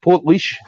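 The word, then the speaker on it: Portlaoise: keep saying this keem i always say this wrong port leash am i saying it right port leash you got it right now for at least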